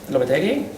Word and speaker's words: Lopetegui: Real Madrid manager Julen Lopetegui?